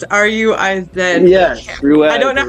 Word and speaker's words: Ruiz: The last name is Ruse. R-U-I-Z. Yes, Ruiz. I don't know how to. Yeah. Okay. I don't know how to pronounce the first part.